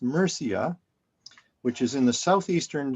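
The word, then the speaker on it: Murcia: in the town of Mera in andalo now pronounced merca which is in the Southeastern section of present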